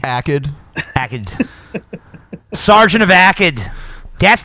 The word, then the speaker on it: Akkad: It's Akkad, right? That's how it's pronounced. And I don't think there's an I in it. It's a soft G. Akkad.